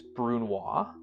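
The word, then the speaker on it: brunoise: There's brunois, which sounds really funny. Um, spelled like brun noise, but it's the tiniest dice above a mince.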